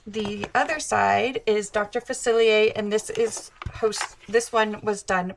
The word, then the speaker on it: Facilier: So a lot of people don't know how to pronounce his name. It's French. It's Dr. Facilier, if you haven't seen the movie.